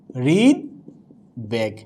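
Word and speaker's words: হৃদ্বেগ: আমরা কিন্তু হৃদবেগ বলতে পারছি না, বলতে হচ্ছে কি হৃদবেগ। কি বলছি? হৃদবেগ। এখানে কি আছে? ব আছে। অর্থাৎ বফলা যখন গয়ের সাথে যুক্ত হবে তখন কি হবে না, দ্বিত্ব হবে না, ওই বয়ের উচ্চারণ স্বতন্ত্র থাকবে।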